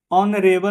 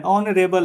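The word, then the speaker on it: honourable: ए का प्रयोग करेंगे ऑनरेबल मैं ऑनरेबल अ यहां पर आ रहा आप एच मत देखिएगा एच यहां पर साइलेंट है ठीक है ऑनरेबल अ आ रहा है अ तो एन का प्रयोग करेंगे।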